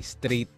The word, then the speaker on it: STR8: lang ako ni str8 na hindi str8 yung pagbigkas ng ah ng pangalan ang pagbigkas niya ay straight So yun lang po ang iano ko ah bago tayo tumuloy straight ang bigkas ng str8 okay Yun lang tayo